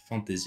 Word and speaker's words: fantasy: Et alors du coup, on en parlait tout à l'heure justement de la fantasy, fantasy avec un Y prononcé à l'anglaise, fantasy sans fantaisie.